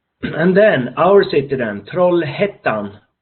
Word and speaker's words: Trollhättan: And then our city then, Trollhättan. This Hettan, the A with 2 dots over, you pronounce it Ä. So Trollhättan and University West.